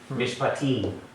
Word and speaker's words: Mishpatim: Mishpatim. Mishpatim. So because this is long, that last accent, the last syllable gets the accent.